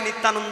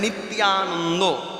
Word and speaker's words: নিত্যানন্দ: তাহলে যেখানে অন্তস্তিয়াযুক্ত, যারা বাংলায় অনার্স করেছেন আপনারা জানেন, অন্তস্তিয়াযুক্ত যদি হয়, এখানে নিত্যানন্দ আর উচ্চারণ হবার নয়। এই জায়গাটায় বলতে হবে নিত্যানন্দ।